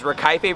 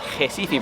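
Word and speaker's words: Recife: santiago dominican republic you nailed it i was rakaife brazil which i learned later was jessifee brazil and yes i served there for two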